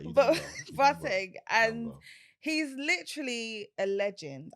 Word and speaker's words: Boateng: Boat- Boateng is like Boateng. No, you know, in the Ghanaian way is Boateng, but it's fine. It's all right. Boateng, and he's literally a legend.